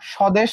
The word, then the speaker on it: স্বদেশ: এরপর আরেকটা এক্সাম্পল এখানে দেখো, স্বদেশ ছিল, এই যে স, সাথে কিন্তু ব যুক্ত ছিল। এপাশে উচ্চারণে কি তুমি ব কে পাইছো? না, ব কে আসলে পাও নাই। কারণ কি? প্রথমে থাকলে সেটা উচ্চারিত হয় না।